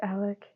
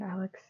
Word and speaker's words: Alec: saying my name wrong it's Alec not Alex um yeah I I